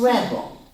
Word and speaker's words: rebel: But the rebel. The tells me this one is a noun. How do we code it? We chop after the B. The accent is on this first syllable.